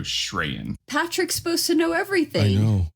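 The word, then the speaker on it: Sh'reyan: I don't know Jennifer her last name is sh apostrophe r-e-y-a-n so shreyan Patrick's supposed to know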